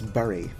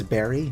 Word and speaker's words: bury: I do purposely mispronounce bury. I pronounce it how it's spelled. Gonna look at that word and tell me that it's berry?